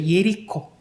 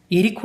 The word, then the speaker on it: 예리코: 여리고 발음이 일이 쿠죠 예리코 에리코 라고 부릅니다 우리 성경에서 여리고 라고 물었는데 그래서 이 열이 구의